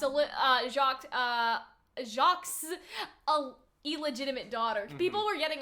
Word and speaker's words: Jacques: like what if she's jocks Allah shocked uh Jacques illegitimate daughter people were getting on us cuz they're like you don't pronounce jocks with the S in French and I was just